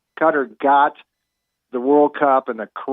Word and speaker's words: Qatar: All right, come World Cup time in Qatar. How do you pronounce it? I hear so many pronunciations of Qatar. Is it Qatar or is it Qatar? I Or believe Qatar. it's actually like gutter.